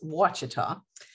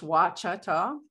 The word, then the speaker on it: Ouachita: variety, it would be Wachita. Doesn't sound like the pronunciation isn't what it looks like right there. So it's Wachita.